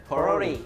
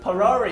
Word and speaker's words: 포로리: 포로리 포로리 포로리 아 성조가 있네 또 and 포로리 and